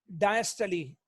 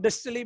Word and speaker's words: diastole: डायस्टली। लिखने में डायस्टोल, लेकिन बोलने में डायस्टली। डायस्टली, कुछ लोग डिस्टली भी बोलते हैं, डिस्टली।